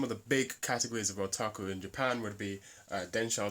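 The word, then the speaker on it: オタク: So, first of all, in Japan, the word otaku, there we go, that's my Japanese pronunciation, I'm very cool, aren't I?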